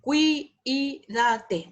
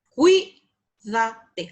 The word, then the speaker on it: cuídate: Dos vocales cerradas y acá hay un ejemplo de, a veces uno dice cuídate, no, es cuídate. Hay 3 sílabas, ¿ven?